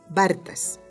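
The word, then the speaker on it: Barthas: Bartas se escribe B-A-R-T-H-A-S, Bartas.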